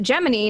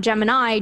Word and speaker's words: Gemini: looked it up and NASA deliberately pronounces it Gemma knee not Gemini to create a separation from the astrological constellation and that I mean